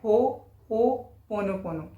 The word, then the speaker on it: Ho'oponopono: इसको कई लोग तो प्रोनाउंस ही नहीं कर पाते, इसका एग्जैक्ट प्रोनाउंसिएशन ऐसे होता है हो ओ पोनोपोनो, हो ओपनोपोनो।